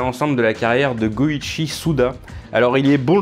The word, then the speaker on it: Goichi: Et son pseudonyme Suda 51, ça vient du fait que le 5 peut se prononcer Go en japonais et le 1 peut se prononcer Ichi, donc du coup Goichi 5151, astucieux n'est-ce pas ?